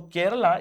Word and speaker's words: Keralam: Because for for the colonial people pronunciation of Keralum was quite tough. So they they made it Kerala because it was easier for them. So Kerala is nothing but the anglicized form of Keralum.